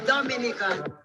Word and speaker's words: Dominica: oh we call it dominican it is spelled d-o-m-i-n-i-c-e it is not dominican republic it is pronounced dominica and is situated between